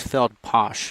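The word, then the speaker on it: Feldpausch: Believe it's Feld Posh actually. I may have been mispronouncing that throughout the night.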